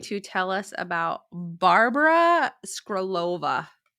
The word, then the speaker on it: Skrlova: Today, she is going to tell us about Barbora Skrlova. Skrlova. I will mispronounce that. I'm not sorry about it, but it's Czech. Her last name's Czech, so it's a little difficult. I've been watching Skrlova.